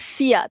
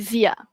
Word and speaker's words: zia: Sama juga kat sini zia bukan sia tapi zia.